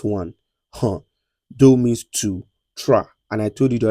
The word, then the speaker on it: trois: Trois. And I told you the other time that whenever I see o and i together in French, it is mean it is pronounced as wa.